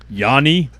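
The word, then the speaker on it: Yawn: the 80s and 90s, Yanni? Is that what it is? Sort of. Yes. But it's spelled uh Y A W N as in Yan.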